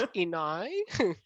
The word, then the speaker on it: Inej: Or if somebody comments down below flaming all of us for the wrong actually, pronunciation. it's Inai.